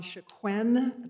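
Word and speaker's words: Chicone: My name is Shaquen. That's spelled C H I C O N E.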